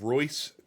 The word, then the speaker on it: Reus: Uh, the first one, uh, is a game called Royce 2, and that's reus. Uh, that's German.